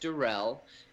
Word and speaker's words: Deruelle: the best way and my last name is d-e-r-u-e-l-l-e pronounced Durrell and you can get